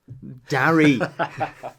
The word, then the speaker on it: Darry: How's that pronounced? Darry.